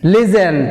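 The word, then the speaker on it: listen: లిజన్. Please లిజన్. Please లిజన్. లిజన్. లిజన్ which is silent, tea silent.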